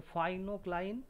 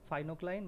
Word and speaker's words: pycnocline: ইংলিশে যদি উচ্চারণ করো ফাইনোক্লাইন, বাংলায় পিকনোক্লাইন।